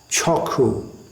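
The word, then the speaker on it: চক্ষু: That is pronounced, that Ksha sound in Bengali is pronounced K. So Chakshu becomes Chokhu.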